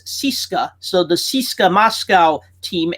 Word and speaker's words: CSKA: Russian Red Army team usually we see it as CSKA but Russians actually pronounce that as syska so the CSKA Moscow